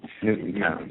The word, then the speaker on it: Newtown: San Francisco with a secondary place out of Newton, Connecticut. It's only a town of 2,000 people. We have to keep... Newtown, sorry.